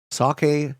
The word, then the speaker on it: sake: saying and even what sake rhymes with jockey sake jockey um I guess